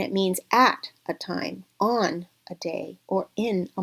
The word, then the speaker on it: を: it wa, and also the particle o or wo.